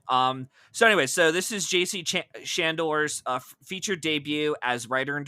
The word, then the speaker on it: Chandor: I think I pronounced him right. Shandor. Shandor. Yep.